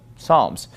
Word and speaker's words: Psalms: with PS but we we usually don't pronounce the P right for example fold a book of Psalms we don't call it Psalms we just call it Psalms psychologist we would not